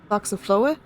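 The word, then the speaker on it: Faxaflói: Boxafloa? Okay, so that X is pronounced like k, like x.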